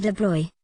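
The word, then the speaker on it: de Broglie: acting like a wave de Blois pronounced de Blois proposed that electrons to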